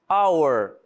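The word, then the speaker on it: hour: Our repare que eu não tô pronunciando o H.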